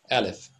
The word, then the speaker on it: Aleph: It's pronounced exactly the same way. Aleph.